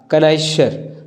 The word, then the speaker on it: connoisseur: तो इसमें जो आपकी स्पेलिंग्स है वो आपका डी नंबर सही है, CONNOISSEUR, कनाइशर, आपका ये ऑप्शन नंबर डी सही है।